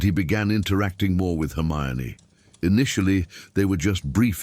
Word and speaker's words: Hermione: She corrected him when he mispronounced her name, insisting gently but firmly that it was Hermione and not Hermione, and there was something charming about her determination to be heard correctly.